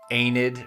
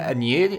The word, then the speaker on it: Aeneid: And then like, Virgil's Aeneid or something. You're like, the Aeneid. Aeneid? And I'm just like, shut up. There's an I in there.